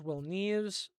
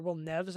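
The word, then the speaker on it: Nieves: Jose Molina, Rhett Meyers, Will Neves, or Will Nes I think is actually how you say it.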